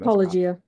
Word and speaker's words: apologia: Apologia.